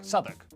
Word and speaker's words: Southwark: W at the start of the final syllable is silent. Norwich, Berwick, Southwark.